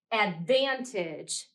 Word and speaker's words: advantage: listen again Advantage Advantage this syllable ban is the accented or the strong syllable in the word and then our suffix at the end is unaccented in this final syllable it's said more quietly than the middle syllable listen to the word